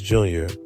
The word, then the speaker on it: JR: It's And I was saying his name wrong, it's not All Star Jr., it's All Star JR.